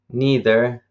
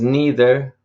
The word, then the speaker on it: neither: to look at both neither and either and you can pronounce these words neither or sometimes they say neither neither neither and the same with either and either okay let's start with